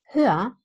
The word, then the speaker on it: hör: We see that there is an R, but I don't pronounce that R. It's in final position, so I replace it by a deep schwa.